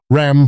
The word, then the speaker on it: Ram: Ram, pronounced r a a m.